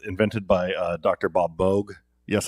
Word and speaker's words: Moog: synthesizer that was invented by uh dr bob bogue yes it's pronounced moog um and and it's kind of kind of